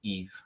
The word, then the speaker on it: Yves: my name is eve yves so i don't think i've pronounced but it's silent s and it sounds like eevee so it's french i'm from montreal and